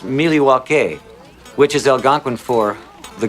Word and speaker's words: Milwaukee: indian name yes pete it is actually it's pronounced miliwake which is algonquin for the good land i